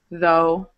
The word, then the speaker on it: though: Although, though, thorough. So again, same O-U-G-H, but it's pronounced like a long O.